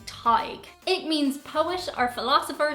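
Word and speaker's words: Tadhg: to give americans pause for thought on its pronunciation is this one and it is the name tag it means poet or philosopher so if you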